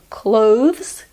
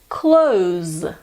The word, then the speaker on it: clothes: find difficult to say what makes it hard is the the sound followed by the good news is there is a way to cheat with this word if you find it hard instead of saying clothes you can say clothes like I close the door so instead of saying